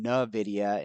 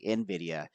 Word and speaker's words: Nvidia: somebody say hey John stop saying no viia and say Nvidia now I could get you